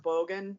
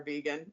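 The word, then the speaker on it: Beagán: But it's kind of pronounced Bogan, but I will call her Vegan probably.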